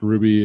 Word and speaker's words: RWBY: It's spelled out RWBY. I'm sure it's pronounced Ruby.